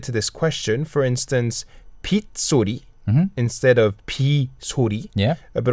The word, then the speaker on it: 빗소리: But Korean people started pronouncing 비소리, 빗소리. 빗소리. So 빗소리 is more common as opposed to 비소리.